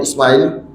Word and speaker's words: Ismaïl: Ismaïl, donc le même nom, la même prononciation, Ismaïl. C'est un nom arabe, donc on prononce en arabe.